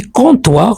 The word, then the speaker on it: comptoir: parfait derrière le comptoir on dit comptoir on prononce pas le P le comptoir à mot